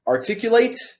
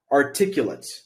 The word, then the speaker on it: articulate: so the difference is articulate articulate two different sounding words it is the same word but it is pronounced differently depending on what part of speech it is once again articulate articulate